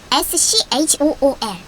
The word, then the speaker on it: school: 그리고 S-C-H-O-O-L, school, 키읔 발음이 나죠? school이 됩니다.